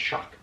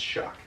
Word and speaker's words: XOC: I started working as a host at a restaurant called Shock Tequila Grill, XOC Tequila Grill. It's pronounced Shock. I don't remember why. Is it SOC? XOC. XOC. Yeah, it's pronounced Shock Tequila Grill.